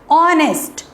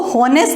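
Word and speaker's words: honest: ये वॉवल से स्टार्ट नहीं है, लेकिन अगर जब आप इसको बोलेंगे तो क्या आएगा, ऑनेस्ट, ऑनेस्ट। इसको होनेस्ट नहीं प्रोनाउंस होता, इसलिए आपको जो स्पोकन इंग्लिश है यानी कि हर वर्ड की प्रोनाउंसिएशन भी अच्छे से आनी चाहिए।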